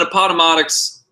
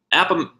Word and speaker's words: Appomattox: And then Appomattox, I said it wrong again. Appomattox.